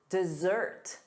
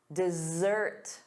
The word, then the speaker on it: dessert: And then two S's, sweets, chocolate, dessert, dessert, dessert. The syllable stress is on the second syllable, da-da, dessert.